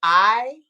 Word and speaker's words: IMERGE: TikTok, is still emerge and it's spelled IMERGE. So it's like interchangeable emerge, but I merge.